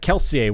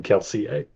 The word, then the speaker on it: Kelsier: that's awesome and also I cannot believe you pronounced that guy's name keler yep yep I've said